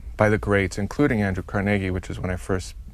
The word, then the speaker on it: Carnegie: do you pronounce it Carnegie emphasis on the middle syllable not Carnegie no no and if